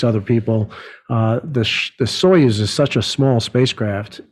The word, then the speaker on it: Soyuz: Is that, how do you pronounce the Russian rocket? Soyuz. Soyuz.